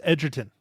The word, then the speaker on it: Edgerton: It's Edgerton.